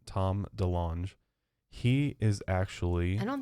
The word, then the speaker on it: DeLonge: pronounced. I was right. It is DeLonge.